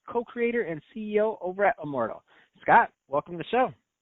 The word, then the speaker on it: Immordl: It is pronounced Immortal, as you phonetically say it.